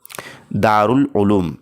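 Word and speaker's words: Darul Uloom: तो फ्रेंड्स इसका जो सही तलफुस और प्रोनाउंसिएशन है वो है ऑप्शन नंबर दो दारउल उलूम इस तरीके से।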